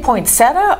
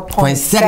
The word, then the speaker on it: poinsettia: So, do you say poinsettia or poinsettia?